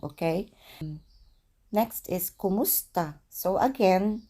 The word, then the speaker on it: kumusta: Next is kumusta. So again, pronunciation is kumusta.